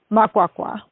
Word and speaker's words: Makwakwa: Makwakwa.